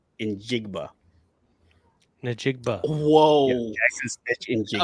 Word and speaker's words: Njigba: It's Kit Kat, Njigba. cheesecake. That's how you pronounce the name. Njigba. Najigba.